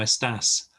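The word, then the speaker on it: estás: informal buenos dias como estas um it's just at the end um almost almost in unheard in in it to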